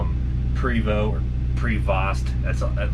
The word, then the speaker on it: Prevost: some people call them Prevot or pretty fast that's it looks like it's about prev OST but it's like a french-canadian word primal is the proper